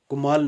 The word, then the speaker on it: कमाल: गुरातुल कमाल was written by, गुरातुल कमाल जो है ये किसने लिखा? मसूद लाहौरी, मिर्ज़ा गालिब, अमीर खुसरू, या फिर ननाफ्ती अबू। कुमाल नहीं है, ये कमाल है।